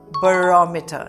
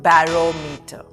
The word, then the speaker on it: barometer: The pronunciation is barometer, not barometer, barometer.